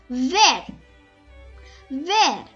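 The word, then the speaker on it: vert: yellow next is and remember we do not pronounce the t so it became ver ver it means green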